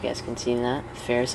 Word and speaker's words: Ferris: Ferris, like Ferris Bueller, rhymes with Paris.